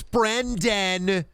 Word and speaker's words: Brendan: I have a friend who pronounces your name Brennan. You should obliterate them. Every time you should obnoxiously yell in the Discord call and go, it's Brendan.